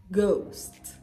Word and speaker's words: ghost: you pronounce this hour the same way you pronounce this hour hour our ghost ghost ghost rhythm rhythm Rhythm right the H